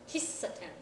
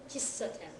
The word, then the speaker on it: kissaten: So this is kissaten. Kissaten. Okay, so rather than a long E sound, it's more giving like an extra S.